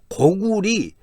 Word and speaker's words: 고구려: 국호를 고려라고 했다고 합니다 고구려를 고구리 고리라고 고리 고구리 이렇게 발했다고 하는데 고구려이던 고이든 특별히 분해